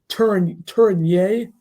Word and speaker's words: Tourigny: Andre Tourigny, I guess is how you pronounce that, is the favorite to be the head coach of the Arizona Coyotes.